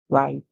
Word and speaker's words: right: are being used okay when GH is inside or at the end of the word it's solid so we hear r i a long I song then we get to right and right would mean